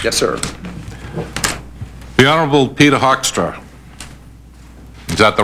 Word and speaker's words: Hoekstra: The Honorable Peter Hoekstra. Is that the right pronunciation? I didn't know whether it was within my purview to correct that or not. It's sure. Mr. Hoekstra. Hoekstra.